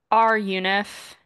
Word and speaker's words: runif: I'm questioning myself um R UNIF uh which I always pronounce internally in my head as runif which is sounds like it's doing something completely different is the function in